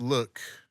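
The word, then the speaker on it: lewk: And it's pronounced it's pronounced look, but it's spelled L E W K.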